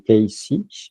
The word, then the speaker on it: Cayce: Alors, ça, je le prononce à la française. En anglais, on dit Casey, mais moi, je dis Edgar Cayce.